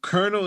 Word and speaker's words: colonel: U Colonel is spelled Colonel, and they want. right. Ain't no R in there at all. Colonel, I'm thinking of popcorn kernel, like K Yeah.